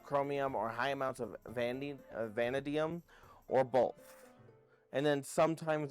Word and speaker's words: vanadium: We need vanadium, sorry, I keep pronouncing it wrong. Vanadium.